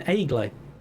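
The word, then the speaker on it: Egle: enough uh she said you know hello i'm eggly egg like okay good when justin called out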